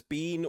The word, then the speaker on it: Biehn: It says Bean or Bean. So Bean Okay. then. So Bean, I guess. Michael Bean. So Michael stupid Bean. from Wikipedia. It literally says pronounced Bean, like Bean or Baan.